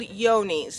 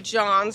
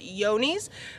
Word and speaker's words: Johne's: testing for is called yoni's a lot of people will call it john's because that's how it seems to be spelt but it's actually pronounced yoni's and that is a